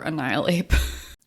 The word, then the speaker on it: Annihilate: I will say, don't keep adding in this extra N. Yeah, I do adore Annihilate.